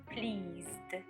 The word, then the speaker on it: pleased: It is not s, it's z. Pleased, z.